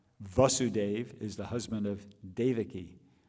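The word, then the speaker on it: Devaki: them said just no my name is Davi just it's like give Dave a key you know it's an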